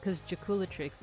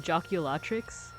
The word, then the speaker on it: Jaculatrix: to say Jaculatrix's name, you remember to emphasize the cool, because Jaculatrix is cool. Because I think I've been pronouncing it Joculatrix, like emphasis on the la, but it's supposed to be Jaculatrix.